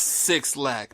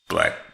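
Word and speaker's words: 6LACK: which Six we've never Lack, talked pronounced Six Lack. No, just a black pronounced black.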